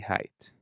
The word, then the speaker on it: height: Weight's like weight, but not like height, which should always rhyme with might.